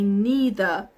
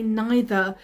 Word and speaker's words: neither: Or in America, they say neither. In the UK, the pronunciation, we say neither, although we use both neither and neither in the UK and the US.